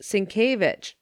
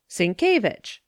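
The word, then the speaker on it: Sienkiewicz: with the polish language it is pronounced syncovich si en que Cinque ie a WI cz vich syncovich and so I left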